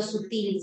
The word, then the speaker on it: sutil: sido y la malogró sutil sutil es aguda no se dice sútil okay Okay siete y